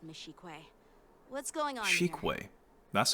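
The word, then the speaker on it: Xueyi: What's going on Shikwe. That's how you pronounce it.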